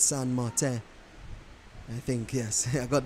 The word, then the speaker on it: Saint Martin: Really, I think it's pronounced, pardon my French, Rennie, I know you're a big French speaker, but I believe it's Saint Martin.